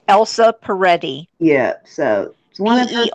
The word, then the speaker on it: Elsa Peretti: how do you say that name yes it's Elsa Peretti yes so one of the are ett I